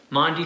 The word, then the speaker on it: Maundy: Week which makes it Maundy Thursday one of my favorite Christian holidays you heard me right it's Maundy Thursday not Monday Thursday Monte comes from an